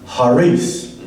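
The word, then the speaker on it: χάρις: Or in Greek, it's called, I'll spell it, charis, and we can pronounce it as charis.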